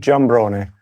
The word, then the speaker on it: Giambrone: It's Italian, but Sicilian, but you're you're so American. Yes. How you say it again? Jamron.